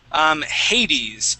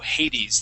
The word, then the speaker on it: Hades: Now, Hades, that's how we would pronounce that. That's I think it's the Roman god of the underworld. So basically like the devil. So Hades, that's how we would pronounce that.